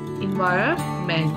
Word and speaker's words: environment: first of all we should know how to pronounce this word environment environment so over here the is silent so we